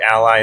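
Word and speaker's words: a11y: Stark Ally, that's how it's pronounced.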